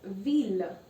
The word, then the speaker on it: ville: So there are some cases where ILL is pronounced as il itself. Okay, so example, ville. Ville means a city, and it's not ville. It looks exactly like fille, but I'm not saying ville, I'm saying ville.